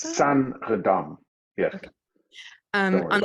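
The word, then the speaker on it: Saenredam: And there's a Sarandam. Is that how we pronounce that? Sanredam.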